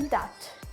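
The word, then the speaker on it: debt: टी आ जाए तब भी क्या होगा बी साइलेंट होगा जैसे दैट बोलते हैं ना डेप्ट कर्जे में हूं तो डेप्ट पर यहां पे डेप्ट नहीं होता क्या बोलते हैं उसे दैट क्या बोलते हैं दैट बी क्या है यहां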